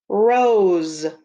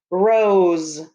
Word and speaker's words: rose: are these things called rose and again the s sounds like a z but it's s rose r o s e r o s e